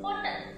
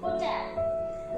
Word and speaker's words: hotel: Many of you say usually hotel. That is a wrong pronunciation, and in E we get the sound of E also. So the short sound of ho, H-O, and the sound of E totally gives it a sound of hotel.